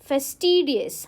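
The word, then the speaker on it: fastidious: Next word हमारा है फेस्टिडियस। हाउ डू you pronounce? फेस्टिडियस। फेस्टिडियस guys adjective है। इसको आप प्रोनाउंस करोगे फस्टिडियस। फस्टिडियस।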